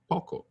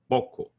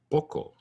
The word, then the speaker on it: poco: but I don't say Poco I say Poco so it's more like the O in the British pronunciation of stock poco poco stock not Poco